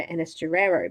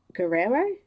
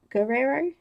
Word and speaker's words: Guerrero: I've been calling it I've been calling her in a stir arrow but it's actually Guerrero Guerrero yeah I think your